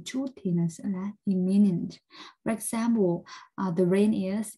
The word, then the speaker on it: imminent: Hai từ này thì nó có cái đuôi minent giống nhau, thế nhưng mà cái cách đọc thì khác nhau, một là imminent và hai là eminent, và nó đều là